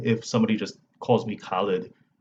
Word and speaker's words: Khalid: It's just Khalid.